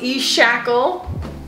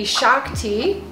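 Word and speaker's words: eShakti: so i just need four back yeah no hey you're good okay all right thank you as we heard tj pronounce e-shackle it's actually a shock tea oh this is a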